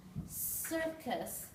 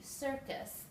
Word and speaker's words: circus: Sound this is character here we have two C's and they each make a different sound circus s like an S and C like a circus and here is our